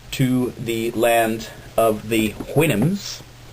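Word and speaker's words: Houyhnhnms: And he voyaged to the land of the whinims. It's actually spelled a lot different than that, but apparently it's pronounced Winnhams and the Yahoos.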